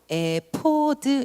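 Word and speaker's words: אפוד: o 시 라는 말은 용 히브리어로 에 포드 입니다 fo 드 히브리어 발음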